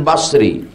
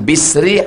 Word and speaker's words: Basri: tur tarmizzi tirmizzi turmuzi sama dengan Basri Hasan Basri Hasan Bisri Hasan busri bas bis bus ketiga-tiganya benar Bisri Basri artinya orang Basrah